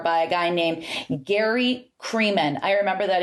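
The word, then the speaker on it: Kremen: So kind of started in 1994 by a guy named Gary Creeman. I remember that his name rhymes with semen.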